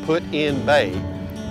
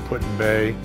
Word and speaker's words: Put-in-Bay: over here putting they put in bay as they pronounced put and so we might